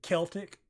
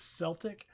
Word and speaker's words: Celtic: So, like, originally I pronounced it Celtic, because that's the Americanized pronunciation, but was corrected that it is Celtic. And we actually have a basketball team, the Boston Celtics, so I get that.